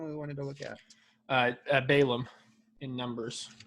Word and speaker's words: Balaam: When there's 2 A's, I think you're supposed to pronounce both of them. Balaam.